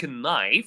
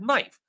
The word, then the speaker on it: knife: But the special rule, if you noticed my pronunciation, I did not pronounce the K in these words. I did not say ki, I said knee. I did not say knife, I said knife. I did not pronounce knight, I said night.